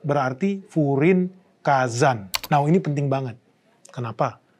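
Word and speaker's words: 風林火山: Bacanya berarti Furin Kazan.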